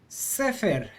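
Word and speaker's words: סֵפֶר: Again, because of the rule, we're going to accent the syllable before the last syllable. Sefer. There you go.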